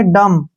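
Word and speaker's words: dumb: बी आया है तो बी का उच्चारण नहीं करेंगे इसको पढ़ेंगे डम या पढ़ेंगे डम डम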